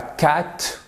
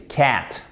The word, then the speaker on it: cat: Même chose, regardez, ça c'est un A court. Ça y est, je suis parti pour vous faire un cours de prononciation. J'arrête dans 30 secondes. C'est pas cat, c'est pas plat comme en français, comme plat. Voilà. C'est cat. OK?